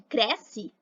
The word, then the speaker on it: cresce: Já na palavra nome e cresce, o E passa a ter som de I.